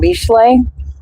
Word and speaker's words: Mishle: do start with reading Mishle. Mishle is Proverbs. Mishle is Proverbs closer to the Hebrew scripture, is how it's said.